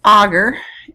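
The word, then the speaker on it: agar: on a sterile environment this is pronounced augur and we use a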